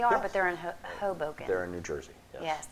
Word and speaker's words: Hoboken: It's Hoboken.